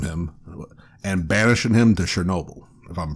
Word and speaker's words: Chernobyl: And it opens with them finally getting what they needed from him and banishing him to Chernobyl, if I'm pronouncing that. Yeah, Chernobyl.